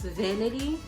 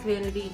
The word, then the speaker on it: Vanatei: brand is is pronounced vanity this is what the packaging looks like it's pronounced vanity and it's in the